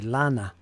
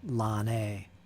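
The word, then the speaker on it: Lannes: I guess it's just lan. Lan. Lan. Marshal Lan. What I have issues with is Marshall's Lan or Lan-A. Lan-A.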